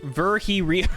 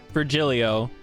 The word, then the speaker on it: Virgilio: It's pronounced Virgi Rio. How the fuck did they... The timing on that. Holy shit. Virgi Rio. Virgi Rio? Virgi Rio. But how do you say that fast? That's like Virgi Rio. No, I'm pretty sure it's Virgilio.